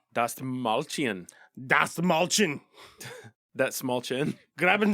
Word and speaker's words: Dastmalchian: Dastmalchian. Dastmalchian.